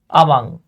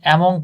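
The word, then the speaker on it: among: দেখেন, আমাদেরকে বলা হয়েছে এই যে বিটুইন এবং আমাং, আমরা অনেকে অ্যামং পড়ে আসছি, উচ্চারণ আমাং।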